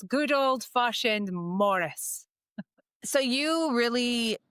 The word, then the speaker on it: Morrice: And we were just talking about how your last name is spelled this beautiful way, Morrice. And but it is pronounced Morris because of the fact that you're Scottish, right? Yeah. But if it was anywhere else, it would be Maurice.